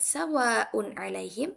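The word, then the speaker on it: سواء عليهم: Jadi di kalimat sawa'un alaihim kita harus membaca dengan jelas. Sawa'un alaihim, bukan dengung. Bukan sawa'un alaihim. Nah, itu salah ya teman-teman.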